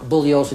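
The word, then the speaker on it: Bugliosi: any address anywhere Mr bullosa you will stand on your feet okay uh Mr Spence my name is pronounced bullosa the g is silent I've told you this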